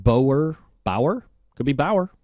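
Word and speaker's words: Bougher: juice wait wait I figured out how to say it I've looked at it no help from the audience no names please Booher I'm good I can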